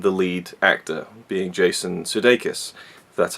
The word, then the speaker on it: Sudeikis: is predictability and the lead actor being Jason Sudeikis that's how you pronounce his name I've never liked him I